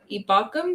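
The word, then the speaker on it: Ebukam: um Limited in practice is the lineman Samson ibakum is that how you say it ebukom come okay figure out how to say dude I kept pronouncing it like you did Evil yeah um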